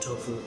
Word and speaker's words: Tofo: Mozambique little town called tofo tof oh yeah they call it they call it tofu that's how you pronounce it right away I knew